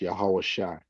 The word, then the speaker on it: Yahweh: um in the scriptures, and it's pronounced Yahweh.